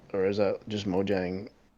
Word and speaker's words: Mojang: or is that just Mojang no mo yang Mojang oh yeah however you want to pronounce it is the Minecraft